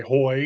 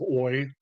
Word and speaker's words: hoy: And of course, H is never pronounced as the beginning of a word, but of course I pronounce it sometimes, like I say hoy instead of oi.